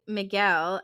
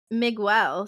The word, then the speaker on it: Miguel: this one's from Amber um she says Cain pronouncing Miguel as Migel sounds like me pronouncing literally anything it ain't